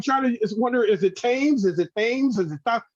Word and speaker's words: Thames: Oh, it's Thames. Yeah, you don't pronounce the TH. It's Thames.